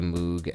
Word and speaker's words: Moog: George Harrison's really crazy Moog entire Moog keyboard album it's very weird I have not he put it out it's pronounced mo what anyway George Harrison